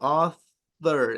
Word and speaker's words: author: Author es con la punta de la lengua, no con el labio.